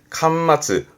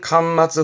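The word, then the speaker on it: 巻末: 권말이라 하면 책의 말미에 있는, 책 끝에 있는 발음은 칸마츠. 음으로는 칸가네요. 칸마츠. 흔히 책 끝에 부록이 붙잖아요. 요게 권말 부록이 되겠습니다. 발음은 칸마츠 후로크처럼 책 마지막을 의미하는 권말의 권자가 이 한자가 될 거고요.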